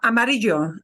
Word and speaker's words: amarillo: there you know okay like the word uh Amarillo Amarillo I get just a little bit of a jade Amarillo or Jabez I have a tiny bit of a j but really really cut short okay um uh like